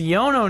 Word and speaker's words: Iono: same you're like ioni it's a Yono now okay I said Yoni at first and I was pronouncing wrong but um but yeah